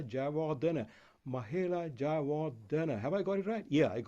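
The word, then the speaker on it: Jayawardene: Mahela Jawardene? No, it's Mahela Jawardena.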